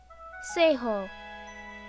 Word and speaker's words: Seihuo: meant only and your say ho i'm pronouncing in a say ho there's no need to